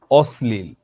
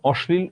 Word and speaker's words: অশ্লীল: অম্ল, অশ্লীল, এখানে অশ্লীল উচ্চারণটাও শুদ্ধ। অশ্লীল এবং অশ্লীল দুইটা উচ্চারণই শুদ্ধ।